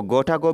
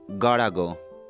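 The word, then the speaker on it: gotta go: इसको गोटा गो भी बोलते हैं, लेकिन ज्यादातर इसे प्रोनाउंस करते हैं इस तरीके से, गाड़ा गो।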